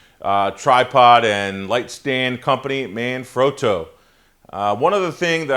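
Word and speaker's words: Manfrotto: learned at the show number one it is pronounced man fro that is the proper pronunciation for the uh tripod and lightstand Company man froto uh one other thing that I learned from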